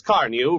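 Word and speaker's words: Carnu: For the sake of your car and for your own pleasure, buy a can of Johnson's Car New right away. It's spelled C-A-R-N-U.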